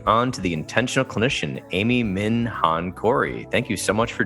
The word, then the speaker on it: Amy Minh Hạnh Corey: the interview welcoming on to the intentional clinician Amy Min Han Cory thank you so much for joining me thank